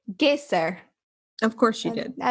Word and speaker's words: Geysir: And I believe she pronounced it Geysir.